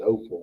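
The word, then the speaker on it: offal: A lot of people pronounce it as awful, but it's Opal.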